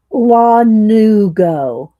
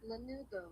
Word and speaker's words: lanugo: So it's not lan, it's Lanu. Go.